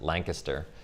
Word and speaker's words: Lancaster: central market in lancaster sorry they pronounce it lancaster oh right and uh